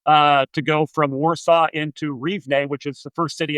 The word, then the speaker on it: Rivne: So, once you got to Ukraine, you said, you were in, how'd you pronounce it? Rivne? Rivne, yeah, it's a city of Rivne.